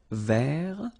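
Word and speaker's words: vert: rou so masculine form don't pronounce the final t ver feminine form ver so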